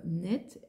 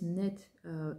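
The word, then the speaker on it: Neith: La source est visiblement chez un prêtre égyptien, un prêtre dédié à la déesse Net, N-E-I-T-H. Il y a différentes prononciations pour cette déesse.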